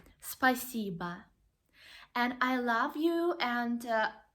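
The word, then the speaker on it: спасибо: world actually spasiba spicy but again we have the letter O but we pronounce it like a ah spasiba and I love you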